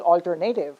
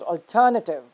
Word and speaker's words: alternative: But the first word is not pronounced as alternative, it's pronounced as alternative. So it's not alternative, it's alternative. Similarly, the other one is not vegetable, it is vegetable.